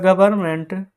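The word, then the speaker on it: government: किया है तो द गवर्नमेंट जी ओ वी ई आर एन एम ई एन टी यह फ्रेंड्स गवर्नमेंट का हम लोग जानते हैं गलती कैसे होता है क्योंकि यहां पर ना एन साइलेंट होता है।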